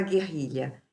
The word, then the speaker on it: guerrilha: E a palavra guerrilha? Essa tem 3 dígrafos, ó. Eu não ouço esse U, então esse GU diante de E é dígrafo, é G. Eu não falo U.